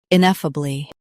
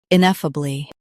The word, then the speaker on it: ineffably: Ineffably. Stress e f, keep uh soft and bly light.